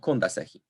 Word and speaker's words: kondasehi: However, stress is not reassigned to the penultimate syllable if it is underlyingly present. Thus, stress in verbs with initial stress remains on the first syllable. Thus, we get afahi and kondasehi.